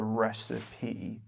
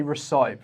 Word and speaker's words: recipe: A recept for cooking in English is a recipe. And we don't say recite because a lot of people accidentally say recite. Yeah, don't say that. Recipe. 3 syllables.